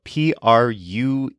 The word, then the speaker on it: prueba: When it's pronounced quickly, the U almost seems to disappear, although it will always be slightly there.